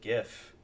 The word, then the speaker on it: GIF: actually putting a gif notice I said gif with a hard G anyway I'm putting a